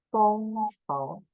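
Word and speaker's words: 工程: How to pronounce in Mandarin is 房建工程. 工程 we know as works. So 工 would be like the 公司 first tone. 工 and 程 would be like 测. Yes. 测工程测.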